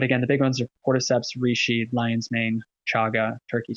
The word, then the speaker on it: cordyceps: a mushroom for energy cordyceps is the name of the mushroom sounds super weird there's an s at the end it sounds pluralized it's very strange but it's pronounced cordyceps and it's an energizing